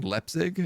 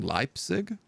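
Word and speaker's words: Leipzig: I saying that right I'm saying leig and I should be saying lip Zig I pronounce a lot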